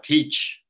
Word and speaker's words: teach: Y para enseñar, teach, ¿cierto? Se escribe T-E-A, entonces ese E-A suena como una I, ahí estaríamos teniendo un sonido vocálico que no es como los otros.